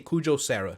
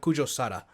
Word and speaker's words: Kujo Sara: I'm just gonna say Kujo Sara, not Kujo Sada.